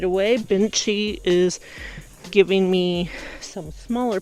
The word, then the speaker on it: Bintje: So this is a variety called Binchi, I think that's how you pronounce it. Jed. Why did I say Jed? Bintje.